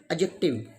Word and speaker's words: adjective: right pronunciation is wednesday next one is adjective not adjective when there is d along with j then d is always silent for example adjective adjourned